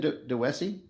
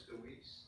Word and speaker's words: Deweese: All right, so, and then, how you say last name, DeWessy? Your Honor, it's Deweese.